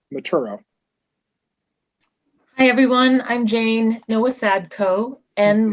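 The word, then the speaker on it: Nowosadko: followed by sheila maturo hi everyone i'm jane noah sadco and like nancy no tim very i'm very impressed by the pronunciation and that's spelled n as in nancy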